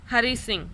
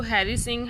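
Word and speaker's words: Hari Singh: तो वो क्या कह रहा है, हरी सिंह. आप इसको हैरी सिंह, हरी सिंह दोनों में प्रोनाउंस कर सकते हो, बोथ आर राइट.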